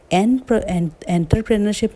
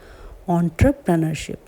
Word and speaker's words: entrepreneurship: ये है एंटरप्रेन्योरशिप ना होकर ये है ऑन्टरप्रेनरशिप। सो इसे कैसे पढ़ेंगे? ऑन्टरप्रेनरशिप।